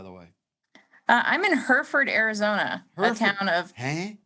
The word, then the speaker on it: Hereford: About Us oh it's it's spelled here h-e-r-e Hereford Hereford yeah that's where I was going by the way yeah here four that's got to be it I don't know